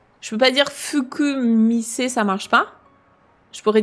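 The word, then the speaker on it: 店: C'est différent de Mise. Alors, Mise, donc le magasin tout court, qui peut se prononcer ten, son autre lecture.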